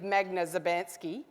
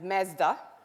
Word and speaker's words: Magda Szubanski: Some of you might even think my name is Mesda. I'll tell you he actually pronounce my name it's Magdalena Maria Theresa Szubanski but you can call me Megs.